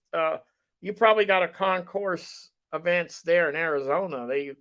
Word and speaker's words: Concours: Arizona Concourse very very nice show gentlemen it's Concourse you don't pronounce it oh you're right okay Common Core